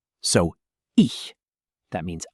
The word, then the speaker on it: ich: Oh, and speaking of German sounds, the ch sound. This one is unique. It's like the sound in the Scottish word lach. Not a hard K, not a hard C. A soft, breathy ch. So, ich.